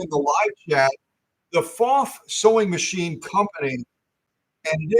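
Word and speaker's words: Pfaff: But if you didn't type it in the live chat, the FOF Sewing Machine Company, and it is FOF, not AF, like a lot of people say.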